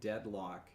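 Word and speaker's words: Deadloch: of an amazing show called Deadlock Lock, where lock is spelled like an oldtimey light. D E A D L O C H.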